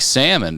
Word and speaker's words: salmon: that D you know it's like salmon you know we all got together and we just said we're not pronouncing the L anymore that kind of thing